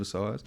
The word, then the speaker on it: psoas: from the psoas muscle have you ever heard of a size so as it's spelled p-s-o-a-s um and there's something called a so right I'll [ __